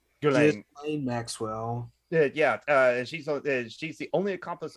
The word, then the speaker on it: Ghislaine: I believe what his name is pronounced. Ghislaine Maxwell.